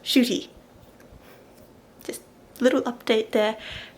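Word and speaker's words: Ncuti: His name is not pronounced Nakuti, it's pronounced Shooty.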